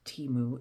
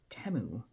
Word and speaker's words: Temu: Apparently, we've been saying it wrong, and it is not Temu, it's Temu.